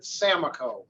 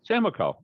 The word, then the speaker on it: Samakow: that's an a minus so it rhymes with the gas station amaco with an s in front of it samaco samaco okay cool and but